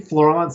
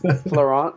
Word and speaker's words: Florent: Okay, I was thinking Florence Amodio, and I was like, it's not No, Florence. it's Florent It's Florent. Florent. I think that's how you say it Form, in France, yeah, right?